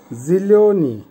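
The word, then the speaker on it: зелёный: জিলিওনি, জিলিওনির অর্থ হবে সবুজ, উচ্চারণ হবে জিলিওনি।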